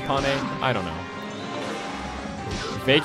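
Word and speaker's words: Panne: And by the way, I do believe it is pronounced Pane. I was talking to a friend of mine, and she said that it's Pane. And the reason why it's not Pain is because Pain is a weird name.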